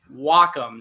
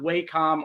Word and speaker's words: Wacom: wondering how to pronounce Wacom it's w as in W the ger Japanese word for Harmony and then Comm is a derivative of computer so it's Wacom not wcom or whack so just remember that